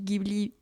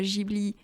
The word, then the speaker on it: Ghibli: Oui, je dis Ghibli et pas Ghibli.